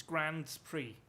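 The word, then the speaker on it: Grand Prix: s after grand grand it's grand spree because it's french and the french are very weird when it comes to words like you don't pronounce an s if it's at the end of a word but only in certain cases yeah just the french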